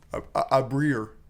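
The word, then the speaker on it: abrir: A breed? A breer is like how it's spelled.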